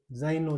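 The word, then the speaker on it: zaino: तो वापिस से जेड ए से, जेड ए आई एन ओ, तो जेड ए को बोलेंगे जा और आई को बोलेंगे ई, जाई, एन ओ को नो, जाइनो, जाइनो बोलते हैं भाई बेग को।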